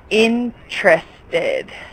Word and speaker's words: interested: the spirit interested yeah it's almost like this e is silent interested in truth good and